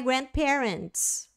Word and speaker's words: grandparents: by my grandparents ó Grand parents o d não é falado tá vocês vão ter